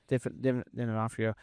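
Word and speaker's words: D'Onofrio: Definafrio.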